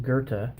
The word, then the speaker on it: Goethe: the master poet gerta spelled weird but is pronounced gerta presented as a play but it's really more